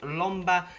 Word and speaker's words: Lomba: So the goalkeeper we're going to have is a player called Lomba, Brazilian keeper, rhymes with the bomber, and this guy had a absolutely fantastic game, guys.